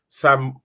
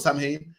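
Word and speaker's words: Samhain: in isar have the same thing they have a day where the dead comeb back that they believe and this day called Sam ha it's pronounced sa but it's about Sam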